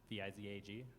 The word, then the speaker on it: Vizag: Is it Visage? V-I-Z-A-G? yeah, it's pronounced, is the spelled correctly?